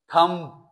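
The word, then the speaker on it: thumb: Option आपके पास जो है, टीथ नहीं है साइलेंट, टेक नहीं है साइलेंट, थंब, थंब नहीं होता, थंब पी आता है, आपको आवाज क्या निकली?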